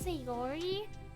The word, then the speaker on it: Sayori: it wrong say it right these correctly it's sayori best girl it's her it's the girl it's